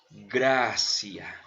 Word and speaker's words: gratia: Gratis tiene que ver con gratia. Y gratia se pronuncia gracia, ¿verdad?